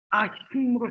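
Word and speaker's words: אחים: 형제는요, 형제는 뭐라고 읽냐면은 아힘이라고 해요. 아힘. 그리고 마지막 절의 핵심 단어는 뭡니까? 영생이잖아요. 영생의 일부는 하임이에요. 하임. 아힘으로 시작해서 하임으로 끝나요.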